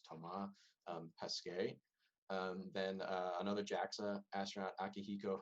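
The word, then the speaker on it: Thomas Pesquet: macarthur uh tom okay this that astronaut is french um so i believe it would be pronounced tomah pesque then another jaxa astronaut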